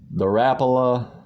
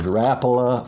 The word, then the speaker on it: Rapala: try out, is the Rapala. Well, I'm going to say this in two different ways. Rapala or Rapala, depending on where you're from, on how you say it.